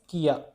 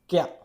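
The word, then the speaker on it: きゃ: it won't be pronounced kia. It won't be pronounced kia. It will be pronounced kya.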